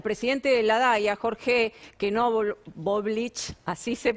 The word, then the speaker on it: Knoblauch: Sumamos a la charla, Mariano, te pido que te quedes, así participamos todos, al presidente de la DAIA, Jorge Knoblauch, así se pronuncia, parecido.